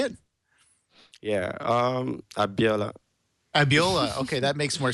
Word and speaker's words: Abiola: Yeah, Abiola.